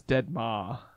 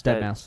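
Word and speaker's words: deadmau5: He's like a dead mouse, but he has a marshmallow head I instead, always thought right? that was Dead Ma. No, it's Dead Mouse.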